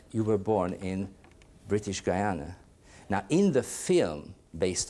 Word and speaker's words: Guyana: have said that you were born in British Guiana now in the film based on your story Sidney Poitier says guiana then I checked the dictionary and it says Guyana so what is the proper pronunciation sir when I was born it was